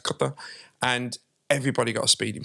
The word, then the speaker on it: Qatar: And the example I would give is that I used to live out in a place called Qatar, pronounced Qatar, and everybody got a speeding fine.